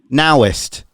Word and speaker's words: Naoist: am i pronouncing this noised now i should have let you speak first what do you mean it's now now it's nowist like daoist the intimate now okay